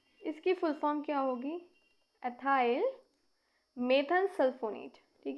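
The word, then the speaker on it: ethyl methanesulfonate: EMS, इसकी full form क्या होगी, एथाइल मेथन सल्फोनेट, ठीक है ना, एथाइल मेथन सल्फोनेट। इसे हम कैसे प्रोनाउंस करेंगे, इथाइल मेथेन सल्फोनेट, ठीक है।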